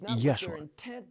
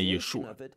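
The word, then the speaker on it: ישוע: Не відповідає тому, що говорить текст «Даси йому імення Єшуа». У тексті стоїть грецька вимова, але важливо вимовляти «Єшуа», що має значення не «Яшуа», це взагалі не єврит, а англіцизм.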